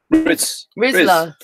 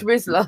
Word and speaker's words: Rizla: Rizla. No, I was calling him Riz. No, it's Rizla.